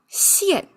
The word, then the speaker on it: 僴: And also its pronunciation changed from jian to xian.